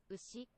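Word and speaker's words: うし: And then Ushi. what's that? Ushi. Ushi? Ushi. Ushi? Ushi. So it sounds like ushi, not sushi. So ushi means cow.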